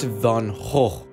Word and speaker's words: Van Gogh: And just down the street, there's Van Gogh's ear. It's pronounced Van Gogh.